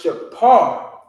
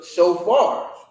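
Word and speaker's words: שופר: i said you know with the f there's no f sound in hebrew if you read the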